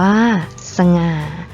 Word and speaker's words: สง่า: นํา อักษร ต่ำ เดี่ยว เสียง ของ พยางค์ ที่ สอง จะ เปลี่ยน ไป ตาม อักษร ที่ เป็น ตัว นำ เช่น สง่า อ่าน ว่า สง่า ฉลาด อ่าน ว่า ฉลาด